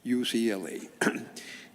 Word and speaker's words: UCLA: people would in in in Spanish you pronounce every letter. So UCLA is actually Ucla.